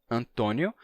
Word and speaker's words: Antônio: caso de Antônio que no Brasil se pronuncia com o fechado e se escreve com acento circunflexo Antônio mas em Portugal esse mesmo